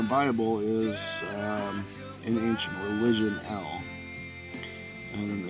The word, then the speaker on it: El: The Lord in the Bible is in ancient religion El, and in English it's written E and then L, which is Eh and La, which is pronounced El.